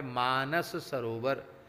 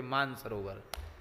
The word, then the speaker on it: मानस-सरोवर: गया जिसका नाम है मानस-सरोवर अब आजकल लोग मानस सरोवर में शार्क तो लोग उच्चारण नहीं करते सीधे कर देते मानसरोवर भैया मानसरोवर नहीं है मानसरोवर तो हमारे